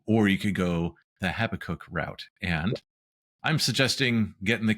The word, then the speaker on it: Habakkuk: And if you're wondering how to pronounce Habakkuk, I remember it by saying I have to cook. So that's how I come up with Habakkuk.